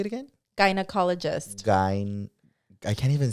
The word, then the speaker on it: gynecologist: Gynecologist. I can't even say it. Gyna. Like vagina. Gynecologist.